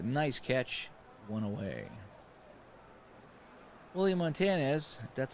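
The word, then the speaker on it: Montañez: he makes a nice catch one away willie Montanez that's how you say his name I'm not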